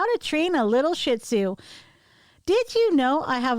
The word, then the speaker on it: Shih Tzu: h space capital t z u is actually pronounced in the west as shih tzu the chinese say shir's ear weighing between 9 to 16 pounds and standing